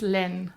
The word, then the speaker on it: LÆN: How do we pronounce it right? It's Len.